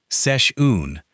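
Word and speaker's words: seisiún: A session, pronounced roughly sesh-oon, is an informal gathering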